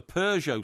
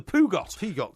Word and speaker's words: Peugeot: up once in a Peugeot somewhere, and I didn't know what a Peugeot was. Right. I couldn't pronounce it. I said the Pugot.